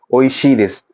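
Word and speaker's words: おいしいです: ओ ई शी दिस जिसको बोला जाता है, प्रोनाउंसिएशन इसका है ओइशी दिस।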